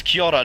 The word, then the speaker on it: Kia ora: Like, if you're going to teach you to say the word, teach you to pronounce it. It's Kia ora, not it's Kia Kia ora, New Zealand.